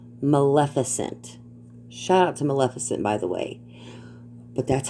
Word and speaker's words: Maleficent: maleficent shout out to maleficent by the way but that's how you pronounce her name it's maleficent got it maleficent you say it real fast together these people have no